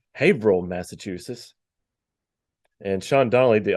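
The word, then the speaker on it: Haverhill: Well, and um Fage reported back that we mispronounced the name of the town. It's Haveril, Massachusetts.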